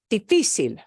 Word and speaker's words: difícil: It is not pronounced difícil. Difícil. It's difícil. That's why difícil needs an accent mark.